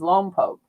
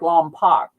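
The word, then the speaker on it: Lompoc: They shoot the missiles off and uh the town in there is Lom Poke, but people always pronounce it wrong because it looks like Lom Pac and I'll hear it in movies and I'll hear it on the news or something.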